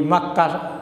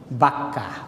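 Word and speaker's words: মক্কা: তো এই মাক্কার দুটো উচ্চারণ আছে। একটা হল মাক্কা একটা হল বাক্কা। দুইটাই সহি। আমরা বলি মিনা।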